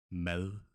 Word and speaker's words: mad: So what happens is that if in Danish we have a D following a vowel sound, the D is soft. It sounds like L. Can imagine it a little bit like the English the, except your tongue, if you say the, it's out there. But the Danish soft D, mad, the tongue is more curled. Mad, mad, mad, the, mad.